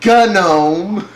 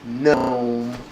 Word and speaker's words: GNOME: presentations the big guys they called it g know and now I'm hearing like some of the top people call it gome I I think it's cuz there's this whole you know you're saying it wrong thing so it's become like the cool people know it's gnome and I was like whatever you know it's gnome gnome but you know what